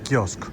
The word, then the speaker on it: kiosk: Il faut supprimer la dernière consonne : Kiosk .